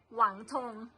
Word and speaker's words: Wangtong: ค่ะ โรง เรรียน อ่า เรา อ่าน ว่า วัง ทอง นะ คะ แต่ ว่า เขา จะ ออก เสียง หวัง หวัง ธง นะ คะ ประมาณ อย่าง